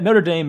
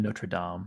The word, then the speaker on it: Notre Dame: Isn't there a difference between the school pronunciation and then the cathedral? Yeah, Notre Dame is the Americanization of Notre Dame. Notre Dame is the French.